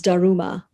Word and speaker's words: Daruma: principles of living so dharma becomes daruma and um it's very